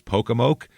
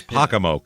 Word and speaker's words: Pocomoke: is pacam City Maryland now some pronunciation said it was pokoke that that had bad reviews though that pronunciation it did it had like two stars but then a five star review is pacam Mo that's the five star review so we're going with that one this is in southern